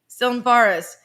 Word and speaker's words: Tsilimparis: The T is silent. Pardon me? Tsilimparis. Tsilimparis. So it looks thank like you. That's right. still Paris, but Tsilimparis.